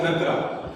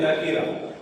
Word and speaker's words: نکرہ: بعض طلباء کہتے ہیں کہ اس میں معرفہ اور اس میں نکرہ, حالانکہ تلفظ درست یہ نہیں ہے بلکہ تلفظ درست یہ ہے اس میں معرفہ اور اس میں نکیرہ.